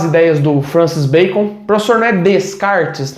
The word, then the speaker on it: Descartes: do francis bacon transformed descartes não é de kart tá provavelmente na aula do pv do paulo vitor a pronúncia dele vai ser muito mais aceitável que a minha tá mas é de kart redecard o de kart